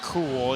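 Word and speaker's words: Kaool: whacked by Grady cool yes I am saying cool it's just spelled with a k k a o o l and it's cool that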